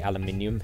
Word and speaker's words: aluminium: I mean, Americans say aluminum, but we say aluminium here in UK.